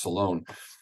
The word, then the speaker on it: Solon: His name's normally pronounced Solon or Solon in our books, but his name is actually pronounced Solon.